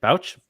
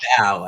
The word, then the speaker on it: Bao: Bauch? It's Bauch? Bao, actually. I told Bao, Bao. rhymes with Dow, so that's an Oh, easy.